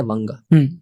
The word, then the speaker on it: वंग: But when we see the most ancient pronunciation जो है उस region का, वो है वंगा, वंग।